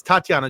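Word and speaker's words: Tattiawna: The W in her name is silent. Don't don't worry, I asked. Um but it's Tatiana Jones.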